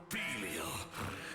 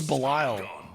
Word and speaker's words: Bel: I think we're going to lose mine FOR YOU STAND BEFORE BEL CHAMPION. Is that how you pronounce it? I thought it was Bile. It's Bel Dragon Lords.